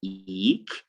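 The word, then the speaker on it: eke: And then we have it in eek, as in E-K-E, eek.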